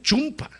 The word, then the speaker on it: chumpa: Me dijeron, "No se dice chumpa, pastor. ¿Cómo se dice chompa?" Me dijeron. Dije, "Pero allá de donde yo soy decimos con u chumpa." No me dijeron, "Está mal dicho, es chompa."